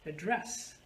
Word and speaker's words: address: two syllable if i change the stress on the second syllable the meaning is going to be different if i say address the teacher is going to address the class so by shifting my stress on the second syllable i made the same word a verb so this kind of